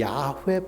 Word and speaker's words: 야훼: 그 이름, 히브리어로 하면, 읽으면 야훼입니다. 야훼. 그리고 구약 성경에 여호와 하나님이라고 기록되어 있잖아요. 여호와라는 이 말은 이 구약 성경을 독일어로 번역하는데요. 독일 사람들이 야훼 발음이 안 돼요.